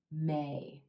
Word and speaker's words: May: of it to get the full pronunciation of the a as in gray may a lot of people